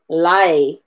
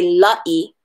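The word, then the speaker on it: laʻi: L a volcana I so we pronounce it lucky as opposed to lie right we don't say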